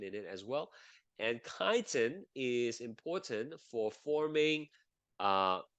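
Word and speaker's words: chitin: and the it's another kind of carbohydrates called kiten that's how you pronounce it not Chetan but kiten kiten uh contains a like a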